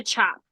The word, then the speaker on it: tjap: about what is a chop. a chop. For those of you guys who don't know, it is spelled TJAP, I believe, and it is a